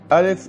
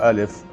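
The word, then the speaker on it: ألف: today is alif alif alif is pronounced like a in above when it carries a hamza alif is pronounced like a in care when it doesn't carry a hamza in arabic world can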